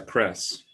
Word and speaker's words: CRES: out how to pronounce oh we usually pronounce it uh cress okay it's got the